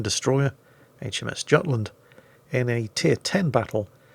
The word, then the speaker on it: Jutland: Tier 9 destroyer HMS Jutland in a Tier 10 battle here on the Islands of Ice map. Sorry, what's that? Scandinavians at the back, speak up. It's not pronounced Jutland, it's the Jutland.